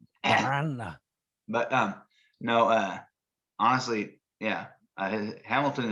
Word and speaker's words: Miranda: You got to roll the R's. I can't do that. Miranda. Miranda.